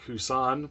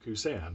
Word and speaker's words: Kusan: Sorry, I used to think it was pronounced Kusan, but I recently saw a TV commercial for them, one of their originals, and they pronounced it Kusan.